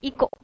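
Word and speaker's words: echo: What is इको? इसे इको भी लोग पढ़ते हैं, इसे एको भी लोग पढ़ते हैं, वैसे इसका करेक्ट प्रोनाउंसिएशन एको होता है।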